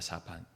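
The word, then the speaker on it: ספן: 이 단어가 한국말로는 널판지로 번역이 됐지만 우리가 히브리어 원문 자체를 그대로 읽으면은 사판입니다. 사판. 2판 4판 할 때 사판이라고 읽으시면 되는데 진짜 그 뜻은 아닙니다. 그냥 읽기를 사판이라고 읽습니다.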